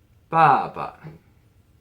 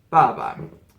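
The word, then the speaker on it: 爸爸: The second one, Baba. Oh, that's not the right tone. Baba.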